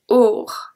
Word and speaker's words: aur: A-U-R pronounced or, or.